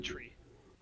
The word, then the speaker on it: three: go three say three three is pronounced like tree four is pronounced power